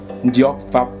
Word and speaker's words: Ndiògfap: Bandrefam est une chefferie du Cameroun, prononcée en langue Ndiok Fap.